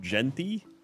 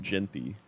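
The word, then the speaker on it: Jeanty: It's pronounced Genty. Ashton Genty. Ganti.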